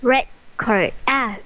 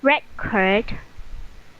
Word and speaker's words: record: Another is record. Record, record and record. Very good. The stress is at the last, and that is verb.